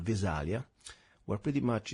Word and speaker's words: Visalia: exactly what where is Visalia is am I pronouncing it right Visalia California is that corre yeah it's velia California we actually are a